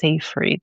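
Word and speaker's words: Seyfried: I think it's Seaf Freed. Maybe it's how it's pronounced.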